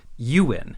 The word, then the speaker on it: Ewin: and official websites and stuff like that is Ewin, E-W-I-N. And I did my best, but I could not find any official examples, or even quasi-official ones, of Ewing, but I'm positive I have seen people write it that way online.